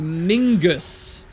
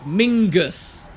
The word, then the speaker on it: Menzies: in the real world the pronunciation from those Scottish people was actually closer to Mingus yes no joke Mingus which sounds kind of weird and so that's some